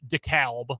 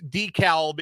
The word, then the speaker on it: DeKalb: Illinois it's funny it's DeKalb in in Illinois but like in Georgia it's DeKalb yeah is silent l isn't English great what a great language